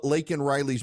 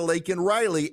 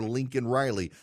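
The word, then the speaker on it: Laken Riley: policies put in place was able to murder Lake and Riley and we now know Joe Biden is more concerned with using the phrase undocumented than he is with mispronouncing lak Riley's name calling her Lincoln Riley he essentially is willing to apologize to Lake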